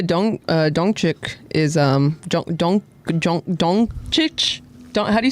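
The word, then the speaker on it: Dončić: Oh, and Luca Don Dongchic is um Don Donic. How do you say his name?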